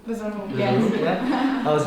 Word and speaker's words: Besalú: I don't know if I pronounce this correctly, but Besalú? Besalú, Yes.